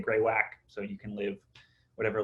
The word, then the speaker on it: greywacke: the park but also a stone called Mountain greywacke it looks like greywacke sometimes you hear people say greywacke if you google pronunciation all the videos say greywacke so you can live